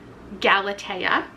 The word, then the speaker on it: Galatea: So I'm gonna spend the next, I don't know, half hour reading this, which I now know is pronounced Galatea.